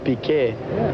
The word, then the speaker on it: Piquet: In Portuguese we pronounce Piquet.